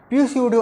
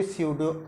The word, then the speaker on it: pseudo: आगे पी दिख रहा है, पी स्यूडो ऑर्डर बोलना चाहिए था, लेकिन यहाँ पे पी साइलेंट होता है, जिसको बोलते हैं सिंपली स्यूडो ऑर्डर रिएक्शन।